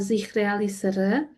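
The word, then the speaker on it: zich realiseren: Kemudian ee realistik juga bisa dalam sens ini bahasa Belanda dibacanya adalah zikrealisere.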